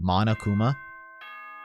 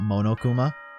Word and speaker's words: Monokuma: what i mean right i've been pronouncing his name wrong the entire time monokuma not monokuma have been updated